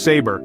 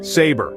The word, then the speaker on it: saber: our sixth word is saber it's pronounced sa bear the B is soft let's say it together saber That's Right Moving On